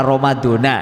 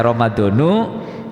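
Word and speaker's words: رمضان: kepada Ramadan yang lain nah ini saya bacanya romadhono Ila Romadhona itu Pak bacanya Ramadhan karena ini mubtada yang di ataskan kepada lafadz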